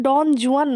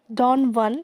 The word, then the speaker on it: Don Juan: তো এই কবিতাটার নাম ডন জুয়ান নয়, ডন ওয়ান। এটার রাইট প্রোনাউন্সিয়েশন হচ্ছে ডন ওয়ান, ঠিক আছে?